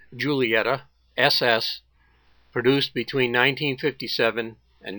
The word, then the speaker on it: Giulietta: This is another contribution from the infield parking area, an Alfa Romeo, I believe it's properly pronounced, Giulietta SS, produced between 1957 and 1962.